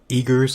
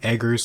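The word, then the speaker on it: Eggers: the story and the direction the director Robert eagr I think that's how you pronounce his na name edar or eagr he went a crazy like completely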